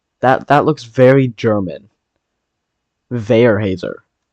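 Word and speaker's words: Weyerhaeuser: towards Rice Lake and Veerhouser or uh Veyhousier. What the heck? Why can't I pronounce that, bro? Veer Hazer. There we go. It's tracking towards Vayer Hazer. I think I've probably still said that wrong, but I think that's a German name.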